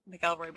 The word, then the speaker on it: McElroy: I'm literally obsessed with the McElroy brothers. McElroy. Yeah. In my head it's always McElroy. I know it's McElroy. It's spelled McElroy, but it's pronounced McElroy, and so that's why it kills us.